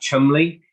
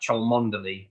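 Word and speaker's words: Cholmondeley: policeman he's called Jack Chumley but it looks like it should be pronounced Jack chalmanderli but it's just one of those weird yeah it's just one of those weird British things um I don't know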